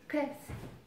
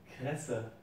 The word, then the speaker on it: Kresse: Este es el Kress. Kress. Algo así. Me dicen que la pronuncio mal. How do you say? Kresse.